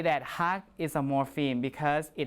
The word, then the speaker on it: 학: When you look at these words, okay, there is that part of the word that is pronounced hak, right?